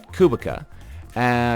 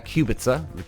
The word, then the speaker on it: Kubica: So then we flash over to Robert Kubica, Kubica, it's pronounced both, but they don't show much of him now.